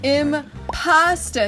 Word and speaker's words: impostor: Also, there's a lot of accents in the United States where you don't pronounce the "r" at the end of the words, so...